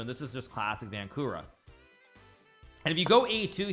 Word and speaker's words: Vancura: me by playing the vancura defense in our game in the Isle of, or not Isle of Man, sorry, in Gibraltar some years back. I'm saying it wrong. No, it's vancura. Vancura, V-A-N-C-U-R-A.